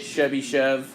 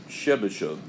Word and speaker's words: Chebyshev: Chebyshev's theorem. I'm fine with Chebyshev. It's actually Russian, and you don't say it Chebyshev. You would say it more Chebyshev.